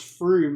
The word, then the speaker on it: Frome: I wonder if it's pronounced Froome, like the place in England. The most mispronounced town in all of England is called Frome.